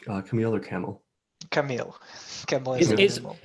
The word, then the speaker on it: Kamil: Yeah, feel free to overpronounce the I at the end. That's Okay. how foreigners usually end up avoiding pronouncing it as a camel.